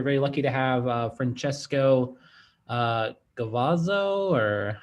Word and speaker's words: Gavazzo: And today we're very lucky to have Francesco Gavazzo, or how do I say your last name? Gavazzi, it's fine. You spell it Okay, fine.